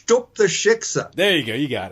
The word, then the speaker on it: shiksa: of jew are you anyway you can't even pronounce the word shiksa is it shikha sh ted you pronounce that anyway uh uh well it's it's took the shiksa there you go you got it okay i'll